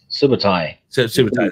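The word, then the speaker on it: Subotai: what's the name what sabata subatai that's how you say it yeah yeah that's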